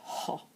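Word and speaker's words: ὁ: The other side, the opening quote, indicates a rough breathing, and so this vowel would be pronounced ho. Ho is in fact the definite article in Greek.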